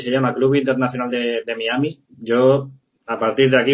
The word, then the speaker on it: Miami: La Real Academia Española indica que la pronunciación de Miami es así, Miami, no es Miami como se dice en Estados Unidos, porque Miami